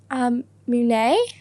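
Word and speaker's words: Mũi Né: I went to a coastal city, Mune.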